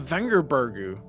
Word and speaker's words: Vengerberg: And he finds Vernon Roche and Yennefer of Vengerbergu. Yep, that's the correct pronunciation.